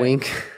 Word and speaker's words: Winc: Also, wink. Yo, gotta say, lately we've been drinking a lot of wine. Wine dinosaurs. And wink, we are wine dinosaurs.